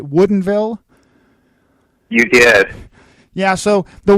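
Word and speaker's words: Woodinville: Michelle Vineyards in Woodenville Washington I had to pronounce it correctly right Woodenville you did yeah so the winery is not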